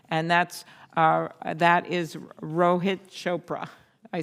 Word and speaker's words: Rohit Chopra: for student loans and that's uh that is Rohit Chopra I said it right I really worked on